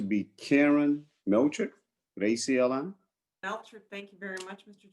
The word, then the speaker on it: Meltrick: Sometimes I get Melcher too, you know, the French side of it, but it's actually German.